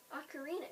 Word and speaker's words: ocarina: Ocarina is pronounced ocarina.